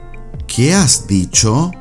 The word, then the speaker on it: ¿Qué has dicho?: ¿Qué has dicho? ¿Qué has dicho? Remember, the H in "has" is silent.